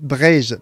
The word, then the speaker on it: Breiz: Le signe BZH signifie que Bretagne se dit Breiz partout, sauf en Vannetais où l'on dit Bray, B-R-E-I-H. Donc Breiz, B-R-E-I-Z partout, sauf en Vannetais où on dit B-R-E-I-H.